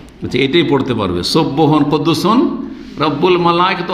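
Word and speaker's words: رَبُّ الْمَلَائِكَةِ: এখন আমি এর বদলে অন্য তসবিহটা বলছেন সুবহান কুদ্দুসুন রব্বিল মালাইকা বা রব্বুল মালাইকা, রব্বিল না রব্বুল হবে, রব্বুল মালাইকাতে ও রূহ। এটা তো আরও মুশকিল, ওইটাই পারি, পড়তে পারবো, এটাই পড়তে পারবে। সুবহান কুদ্দুসুন রব্বুল মালাইকাতে ও রূহ এইটা পড়তে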